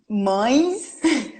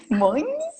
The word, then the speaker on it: mães: Oh, because of the nasal sound, for sure. They're definitely the most difficult words for me to pronounce. Definitely. Yeah, but I think actually I know why, because N in Portuguese, most of our N's, they go to our nose.